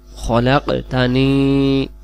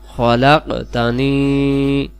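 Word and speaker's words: خَلَقْتَنِي: ব্যতীত কোন উপাস্য নেই খলাকতানি ওয়া আনা আবদুকা খলাকতানি ওয়া আনা আবদুকা খলাকতানি এটা আমরা খালাকতানি পড়বো না বাংলাতেও লিখে দিয়েছি খলাকতানি আনা আবদুকা এইটা হলো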